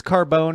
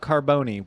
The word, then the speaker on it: Carbone: Oh, speaking of Italian, your last name, it's Carbone, not Carboni. Why?